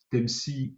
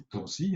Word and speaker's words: TEMSI: Les cartes dites TEMSI ou TANSI, un peu suivant votre prononciation, et également les cartes dites WinTem.